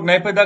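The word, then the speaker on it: Naypyidaw: ये है NAYPYIDAO, okay, तो नए पाई डॉ इसको बोलते, तो ये नई नई कैपिटल है म्यांमार की, और या फिर इसको नेपिदा करके भी इसकी इसकी प्रोनाउंसिएशन है।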